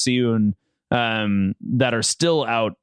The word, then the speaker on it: Seun: And Fail does have several uh several sons, Fei and uh it's spelled like Shawn, but I think it's Seun.